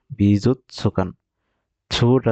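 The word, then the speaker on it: 美術館: বিজুচছুকান্তে এ ও মিমাস বিজুকান বিজুত সুকানটা দেখেন বড় করে আছে তাই পূর্ণ উচ্চারণ হবে বিজুত সুকান বিজুকান এ ওমিমাস এ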